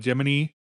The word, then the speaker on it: Gemini: Uh, I know NASA pronounced it Jiminy and I I grew up so many years calling it the Jiminy missions that I just now instinctively call Gemini Jiminy and people give me dirty looks for it.